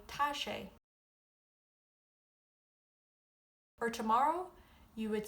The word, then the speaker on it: tá sé: For it is as in today you say tash.